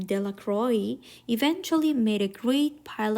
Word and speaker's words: Delacroix: Bobby and Harry Johnson, Dickie Delacroix, The villagers pronounced his name Delacroix, eventually made a great pile of stones in one corner of the square.